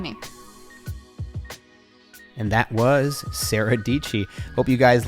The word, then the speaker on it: Dietschy: way yeah that was my high school English teacher would call me Sarah rhymes with PG great random that works